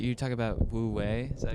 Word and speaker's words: wu wei: Yeah, like you talk about wu wei, is that how you say it?